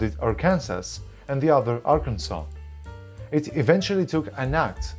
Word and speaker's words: Arkansas: In 1881 the Legislature passed a resolution that the spelling would be Arkansas and the pronunciation was to be "Arkansaw".